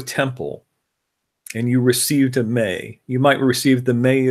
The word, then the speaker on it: me: One of the most salient stories is Inanna's receiving the May from Enki. So a May is spelled M-E, pronounced M-A-Y.